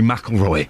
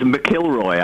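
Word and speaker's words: McIlroy: getting on with Rory mroy and you will castigate me for for mispronouncing sports people yeah it was mckelroy I was it he's missing a vowel he needs another vowel in there the idiot for goodness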